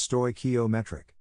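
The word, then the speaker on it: stoichiometric: this chemically correct combination of stochiometric mixture pronounced sto ometric with this mixture given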